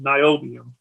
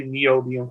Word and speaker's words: niobium: say it wrong but niobium um i always say neodymium because i think i'm in the matrix or something but uh